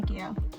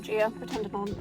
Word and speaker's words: Ghia: as well as being a GHIA or GHIA, depending on your pronunciation.